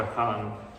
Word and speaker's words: Achan: And God shows Joshua that it's this one particular man, Achan, or Achan. It'd be a closer Hebrew pronunciation.